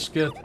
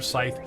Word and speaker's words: scythe: Fantasy and closer death skith or Scythe I'm sorry I've been saying skith for 50 freaking years it wasn't until my wife said it's Scythe that I went oh really